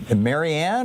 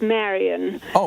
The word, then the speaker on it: Marian: and welcome back uh is it Maryanne or Marian I'm not I'm not sure how to pronounce it based on how it's spelled my my name is Marian I'm a firsttime caller